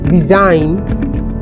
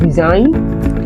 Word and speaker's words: resign: we have the word resign we have the word resign and in this word this letter G this sound is dummy because we don't get the sound we have Maline this